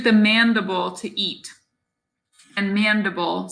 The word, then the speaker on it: mandible: mandible to eat and mandible sounds like edible the next bone is